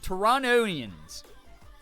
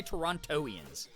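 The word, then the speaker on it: Torontonians: so good yeah Toronto tonans that's how you say it right because you don't say toronian you don't say the second te if you're actually saying it with an authentic accent you say Toronto yeah Morgan is in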